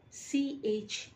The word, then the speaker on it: chauffeur: Word number two, C-H-A-U-F-F-E-U-R. C-H-A-U-F-F-E-U-R is correctly pronounced as chauffeur.